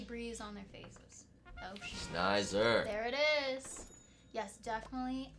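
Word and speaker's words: Sneyser: It is, of course, just remember geyser, Exactly. and it's Snider, like geyser. Snider. Although, of course, there's also sneeze in the mix there too. So I suppose sneezer could have been an understandable pronunciation.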